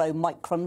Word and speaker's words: Omicron: be a defense against what i call a micron because that's how i was taught to pronounce the greek letter um i can't see